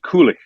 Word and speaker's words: Kulich: So Yuri Kulich from the Czech team. We don't say ich in English. So ICH in Czech is like ich. Not quite that hard, but so we cheat it.